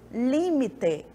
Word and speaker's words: límite: Eu tenho limite no português e límite no espanhol.